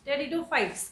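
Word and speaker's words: Pteridophytes: ठीक है, टेरिडोफाइट्स। क्या बोलते हैं? पी साइलेंट होता है यहाँ पे।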